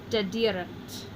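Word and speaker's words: dederent: It's a three-syllable word starting at the end, going back one. Is it long? Well, yes it is. There's our macaron right there. So we've marked it as long, is our accented syllable.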